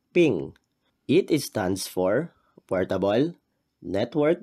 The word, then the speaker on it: PNG: impressive C dot PNG this is pronounced as ping it stands for portable